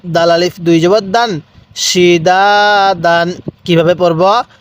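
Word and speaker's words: سِدَادًا: সালামুন এরকম ভাবে এবার বলবেন এই হরফ গুলোর উচ্চারণ কিভাবে পড়তে হবে সিনজের সি দাল আলিফ জবর দা দাল আলিফ দুই জবর দান সিদাদান কিভাবে পড়বো সিদাদান এরপরে সিন জবর শা র আলিফ জবর র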